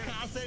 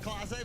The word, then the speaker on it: Clase: He said Casa, not Clase, but it was so good. It was You so got it. good that you do look like a bottle of Clase Oh Azul, my dude.